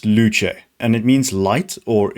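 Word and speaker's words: Luce: And for those who think it's pronounced loose, you're wrong. That's just a nickname given to the latest girlfriend to enter the Ferrari stable. No, it's pronounced luche and it means light or illumination.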